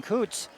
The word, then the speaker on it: Kutz: That's Logan Kutz. Did I pronounce that right? That's right. K-U-T-Z is spelled.